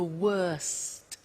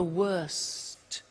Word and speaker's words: worst: The superlative is the worst. Notice the T. Bad, worse, the worst. Don't forget to pronounce the T.